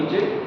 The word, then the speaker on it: niche: आगे चल के इकोलॉजिकल नीचे पढ़ने वाले हैं। तो एक्चुअली दिस इज नीच, मतलब जब बोला प्रोनाउंसिएशन किया जाता है तो इट्स अ नीच।